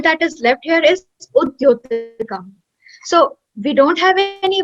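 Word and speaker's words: उद्योतकम्: like to the next word, and then we pronounce it with like combinedly, Mudyotika, instead of just Udyotika. Yeah. Is it Udyotakam or Mudyotakam? Okay, it's Udyotakam.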